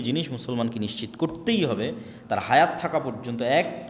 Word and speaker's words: তোরাহ: মুসা আলাইহিস সালাতু ওয়াস সালামের কওমকে যখন তাওরাত দেওয়া হলো, তোরাহ বলে ইহুদিরা উচ্চারণ করে যে তোরাহ, যখন তাওরাত দেওয়া হলো